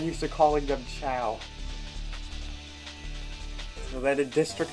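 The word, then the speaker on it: Chao: It's actually pronounced chow, since the origin of the word comes from the Italian word ciao, which is how you say hello in Italian.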